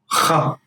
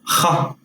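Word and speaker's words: خ: This letter is kha. It's pronounced further back from the throat. Kha. Similar to the jota in Spanish, if you are familiar with Spanish.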